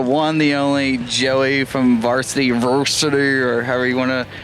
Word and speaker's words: Vrsty: Trenton here with SoundlinkTV with the one, the only Joey from Vrsty, or however you want to pronounce it.